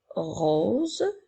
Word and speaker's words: rose: nous avons le son n'oublie pas que lorsqu'il y a la lettre S entre deux voyelles la lettre S fait le son rose comme dans les phrases ma